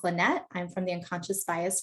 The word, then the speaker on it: Linet: My name is pronounced Linet.